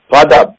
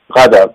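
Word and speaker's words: غضب: উচ্চারণ করে যেটি অশুদ্ধ গাদাব মানে হচ্ছে গাজব আর এটাকে বাংলাদেশে বলা হয় গজব একই জিনিস কিন্তু জোয়াদ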